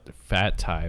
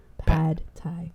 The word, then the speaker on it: pad thai: No, I guess I have not had fat Thai before. What is that? Fat? How do you say it? Pad thai. Pad, like pads, like girls like have pads.